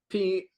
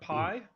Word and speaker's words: Pi: please and our guests today are next slide P long please if I announce it bad uh just correct me how are you how are you I'm good um yeah usually in the US it's pronounced Pi just to avoid uh um sounding similar to